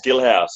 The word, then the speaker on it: Guilhaus: I am joined with Guilhaus. Is that how you pronounce it? Yes, Guilhaus.